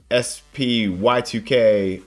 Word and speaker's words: SPY2K: SPY2K, 123. Actually, Spy2K is the correct pronunciation.